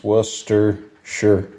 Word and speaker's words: Worcestershire: is the bottle of Worcestershire sauce or Worcestershire Worcestershire you see that's how it's pronounced Worcester sure so we have the